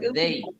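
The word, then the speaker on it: they: এইভাবে দেই দেই দেই এটা দেই বলবো না দয়া দে বলবো না এটা হবে দেই তারা দেই দেই বলেন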